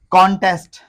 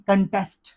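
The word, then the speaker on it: contest: कॉन्टेस्ट कोई word नहीं होता। इसको पढ़ते हैं कंटेस्ट। कंटेस्ट नॉट कॉन्टेस्ट।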